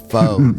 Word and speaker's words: faux: foe. It's pronounced Foe.